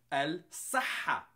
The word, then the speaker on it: الصحة: Okay, so this letter unfortunately is also not in English, but it's close to the letter S. But it's not really pronounced S. It's pronounced a little bit harsher. It's more like sa. So it's the S and there's sa. Sa comes more from the back.